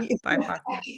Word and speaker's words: BIPOC: How do you pronounce this? BIPOC? No, Yeah, B-I. that's right. Yeah, BIPOC.